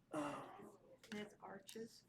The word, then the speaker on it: Arches: Arches.